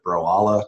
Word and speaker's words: Broala: But because that was called Bro, and they just needed a name for this company, they called it Broala to rhyme with koala.